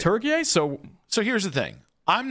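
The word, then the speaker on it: Türkiye: It says the country is officially and correctly pronounced Turkey, and then it gives the spelling. The official pronunciation is used to distinguish the country from the English word for the bird.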